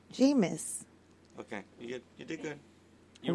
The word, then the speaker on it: Jameis: Jameis.